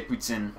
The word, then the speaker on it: poutine: Yeah, we say poutine.